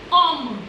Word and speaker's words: homme: H, homme. H is a mute consonant in French language.